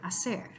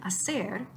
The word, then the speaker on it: hacer: in the sound because it is a silent letter. So the letter H exists in the word hacer, but in the sound representation, it's not there at all. The second thing is the letter C on the left. But unlike number 5, where the C in casa made a K sound, here in hacer, the letter C makes an S sound.